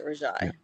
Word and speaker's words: Rajai: Okay, Rajai.